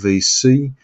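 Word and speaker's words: VSee: also use a product called VC that's spelled v s double e and and it's a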